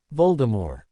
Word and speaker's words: Voldemort: "Voldemort Harry repeated, "Yes, I know, ridiculous," Kathy nodded. "It's French, meaning flight of death, and technically you're supposed to pronounce it with a silent T." Voldemort.